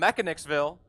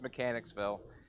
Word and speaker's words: Mechanicsville: right hand sign from Mechanicville Maryland he's red as Danny Mata also from Mechanicville 590 was his dialing he's 04 and 26 th under and before y'all Lynch me I know it's Mechanicsville now I'm just being ridiculous